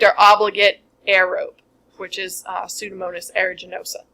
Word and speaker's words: Pseudomonas: So this one is our strict or obligate aerobe, which is Pseudomonas aeruginosa. The P is silent.